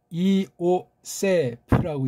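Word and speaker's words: Ἰωσήφ: 자, 그건 그런 이야기고, 요세프는 아무튼 뭐 그렇다 치고 헬라스 말은 이오세프라고 읽어야 돼요.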